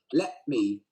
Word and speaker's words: let me: See, I didn't say the T.